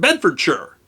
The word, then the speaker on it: Bedfordshire: middle English for example the word Shire every Britain will tell you that Buckinghamshire Oxfordshire and Bedfordshire are pronounced Buckinghamshire Oxfordshire and Bedford sure the reason is not laziness a dialect it's that the pronunciation of those names was set before the great vowel shift when Shire would have been pronounced Shearer those names are literally